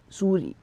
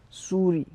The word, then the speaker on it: souris: To a mouse, we will say souris, souris, Souris.